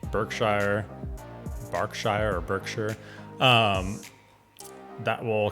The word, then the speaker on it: Berkshire: county names here um berkshire's pronounced barkshire also derby is pronounced